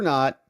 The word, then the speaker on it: Ngo: gaming cat Johnson fear not Chief Casey and Fred ashba in the house gifted membo courtesy of Bruce rice rice baby what's up Golden gaming says NGO is pronounced no just drop that g go 47 are you